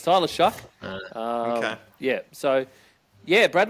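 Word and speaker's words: Tyler Shough: I found the pronunciation too this week, Brad. It's Tyler Shuck.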